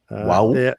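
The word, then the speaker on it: Wau: said how would you how would you pronounce w-a-u wow yes with difficulty South Sudan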